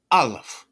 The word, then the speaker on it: aleph: It said the aleph, silent or a glottal stop.